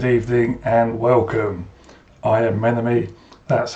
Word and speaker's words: Menome: I am Menome, that's how it's spelt and that is how it's pronounced.